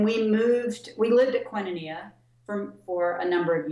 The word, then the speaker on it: Koinonia: to high school when we moved away from koinonia it's pronounced quinnenia actually it's a funky weird name it's a greek word that means community but when we when we moved we lived at quinoneea from for a number of years but then